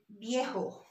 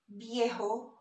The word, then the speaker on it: viejo: And we have the word viejo. So viejo is old. So it's spelled as V pronounced as B. So it's bonito for handsome, viejo for old.